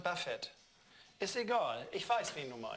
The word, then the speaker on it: Buffett: Ja, Buffett. Buffett wird das ausgesprochen hinten. Buffett. Hä? Ja, nicht Buffet, sondern Buffett.